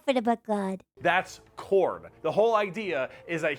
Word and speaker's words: Khorne: It's Khorne.